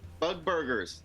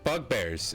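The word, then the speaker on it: bugbear: again maybe they're really sleepy i don't know bug burgers i shouldn't be racist yeah you haven't seen any other couples yet bug bug bears it's called it's pronounced bug bear bug burgers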